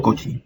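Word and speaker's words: Cauchy: en donde el apellido su apellido escribe de la siguiente manera coach y pero se pronuncia coach y bueno esto solamente sería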